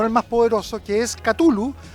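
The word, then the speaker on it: Cthulhu: más poderoso, que es Katulu o Tulu o Chulu, como muchas veces eh uno no sabe muy que muy bien cómo se pronuncia, aún cuando Lcra le escribió a sus amigos diciéndole en realidad que la pronunciación de era catul.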